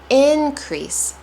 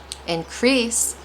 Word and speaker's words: increase: been an increase in heat the past few days.